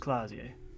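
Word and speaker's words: Klaasje: Klasie is pronounced Klasie.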